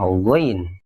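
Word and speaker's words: غين: titik di atas satu namanya Gin bunyinya mirip huruf g dalam bahasa Indonesia gho gi gu cuman perhatikan saat dikasih vokal a Jangan dibaca Ga Tapi cenderung go Ga bukan Go bukan tapi W Win Ini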